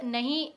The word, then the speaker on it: knee: इस स्पेलिंग अगर आप देखो तो इट इज KNEE, बट जब आप इसको प्रोनाउंस कर रहे हो आप पढ़ोगे नी का साउंड ही कहीं नहीं आ रहा है। दैट इज के साइलेंट लेटर हियर, तो इसको साइलेंट लेटर कहते हैं।